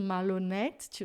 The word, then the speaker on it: malhonnête: A pronúncia é aberta, é et mesmo, malhonnête. Você não vai fechar a pronúncia só porque está com circunflexo.